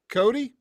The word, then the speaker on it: Cote: interviews of you, and I've heard your name pronounced two different ways. So is it Cody? Cody, yep. Okay, absolutely, man. Because I've heard some French-leaning type of pronunciations of it, which is Cote.